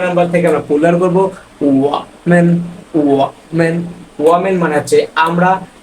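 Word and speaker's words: 我: প্রথমত এখানে চাইনিজ শব্দ, এই চাইনিজ শব্দের উচ্চারণ হবে ওয়া।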